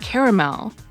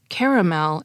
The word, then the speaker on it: caramel: dialect survey found that the three syllable pronunciation caramel is dominant all along the east coast of the United States from Maine to Florida